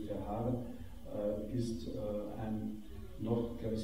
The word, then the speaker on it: Verhaeren: Emile Verhaeren, glaube ich, wird er in Frankreich ausgesprochen, oder Emile Verhaeren, ist ein noch, glaube ich, 27 Jahre älterer Vater, eine Vaterfigur für ihn.